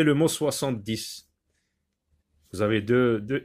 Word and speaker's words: deux: Ou bien le mot deux, par exemple. Deux, un, deux. Vous avez un X, mais il ne se prononce pas, surtout à la fin des mots.